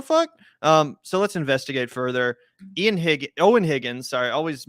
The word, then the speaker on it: Eoin: Eoin Higgins, sorry, I always mispronounce this guy's name because it is spelled different than I'm used to the name Owen being spelled, but that's my dumbass fault for not knowing pronunciation, not his.